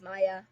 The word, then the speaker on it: Maya: I'm pretty sure that would be pronounced Maya. It's Maya. Maya Faye.